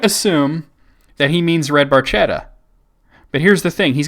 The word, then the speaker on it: Barchetta: now I might assume that he means red Barchetta but here's the thing he's got red Barchetta listed at number 13 yeah but spelled differently it's red Barchetta not red beretta number 14s limelight fantastic song and then number